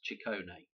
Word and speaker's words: Ciccone: So Madonna's last name, the way I understand it, is actually pronounced Ciccone.